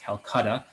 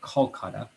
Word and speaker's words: Kolkata: to the area that we call calcutta today it's pronounced more kolkata and he is significant